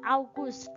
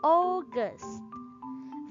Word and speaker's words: August: our guest very good bukan August tapi oges Ferry God next it is